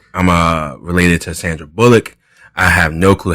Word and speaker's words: Bullock: his last name bullock bullock anyone ever that up yeah this is like bull lick they do lick for some reason and i do not